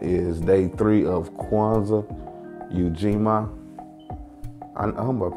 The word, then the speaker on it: Ujima: The day of this event is day three of Kwanzaa, Ujima. I'm about pronouncing that right.